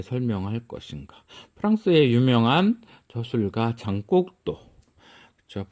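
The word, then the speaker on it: Jean: 프랑스의 유명한 저술가 장곡도. 그렇죠? 프랑스식 발음 장, 영어로 얘기하면 이런 게 존인 거죠.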